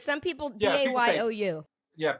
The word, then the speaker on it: bayou: Spell it for them, because some people Yeah, people say- BAYOU. Yeah, BAYOU. It ain't Bayou, it's Bayou, because I'm from the Bayou country.